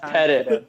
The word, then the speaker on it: Pettit: It's pronounced Pettit.